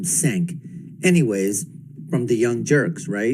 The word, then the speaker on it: Cenk: And I would just basically want to tell Cenk, and I know how the name is pronounced, it's Cenk, but I call him Cenk.